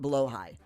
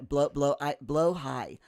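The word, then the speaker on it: Blåhaj: Jeeves, it's pronounced blow high. You learned. You have the biggest one in the toddler's room. You gotta love. Okay, blow high.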